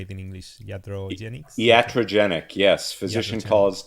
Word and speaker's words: iatrogenic: Iatrogenics?